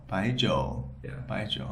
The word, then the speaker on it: jiu: and then the then the jo is a third tone which is starts kind of low, dips and rises. So it goes like so like Yeah. So it's a jo.